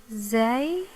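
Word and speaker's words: زيت: And there is fatha above the zay, so it's pronounced za. Okay, let's give it a try. Zayt, zayt, zayt.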